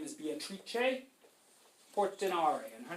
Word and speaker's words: Beatrice Portinari: Technically, if you wanted to pronounce her name in an Italian way, her name is Beatrice Portinari.